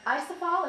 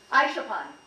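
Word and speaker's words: Aisholpan: And she stayed with the family of a girl named Isafal, is that the way you say her name, Connie? Aishapan, who is an eagle huntress.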